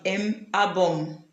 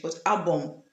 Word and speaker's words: album: So, when M is combining with vowels, it form a nasal sound. For example, the album. It does not sound the M album like in English, but album.